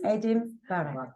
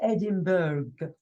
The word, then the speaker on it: Edinburgh: Yes, Edinburgh. Okay, so what's Edinburgh? It's a place, it's the capital of Scotland, okay? But definitely it's not Edinburgh. Yeah, because that otherwise it would sound like burger.